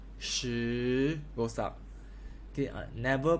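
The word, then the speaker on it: 十: going up okay this pronounced like shirt without rt shoe goes up okay never pronounce this as sh idea it's not she is think about shirt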